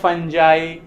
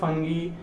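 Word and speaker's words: fungi: देखिए ये वर्ड जो है इसे बहुत जगह फंजाई या बहुत जगह फंगी, कोई इशू नहीं है, आपको जो मन है या फंजाई कहे या फंगी बोलिए, एक ही बात है।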